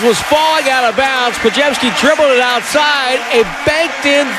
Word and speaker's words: Podziemski: Let's pronounce the man's name correctly. It's Brandon Podziemski, and he joins us next on Willie and Dibby.